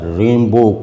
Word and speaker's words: Rimbaud: تو اس کا جو رامبو، آرتھر رامبو، اب اس کا فرینچ تلفظ ظاہر ہے کہ وہ الگ ہی ہوگا، لیکن انگریزی میں بہرحال اسے آرتھر رامبو یا ریمبو کہتے ہیں۔ تو یہ جو رامبو،